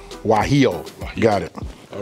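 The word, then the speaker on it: guajillo: now I'm going go ahead and let you pronounce the name of this chili all right these are chili waho waho got it all right so we're going to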